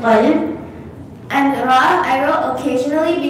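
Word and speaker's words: قلب: So one of the examples is qalb, qaf. You can see I pronounced it very heavy. I said it like qalb.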